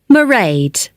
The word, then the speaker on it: Mairead: be working then so you'll see my assistant Mairead sorry how do you spell that it's M AI e a d Mairead okay got that it's not a name I'm